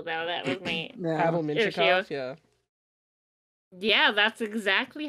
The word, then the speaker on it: Mintyukov: That was my Pavel Mintyukov, yeah. Yeah, that's exactly how I would have pronounced it.